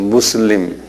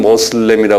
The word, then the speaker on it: 무슬림: 한번 발음해 보세요. 무슬림. 무슬림.에 우리말로는 모슬렘이라 그러 모슬림이라 그러는데에이 사람들은 무슬림 무슬림이라 그래요.이 이슬람 사람들은요.